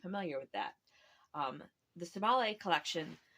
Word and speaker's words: Sibahle: Um, the Sibahle Collection, which I am mispronouncing because the name is Zulu and uses a sound that we don't really use in English. So it's more like Sibahle.